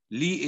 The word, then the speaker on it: Lea: Henry Charles Lee. Lee is spelled with L-E-A.